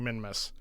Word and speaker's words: Minmus: I'm not saying Minimus, I'm saying Minmus. I mean, I guess that's how you say it. I don't know. I just know I'm not saying it totally wrong.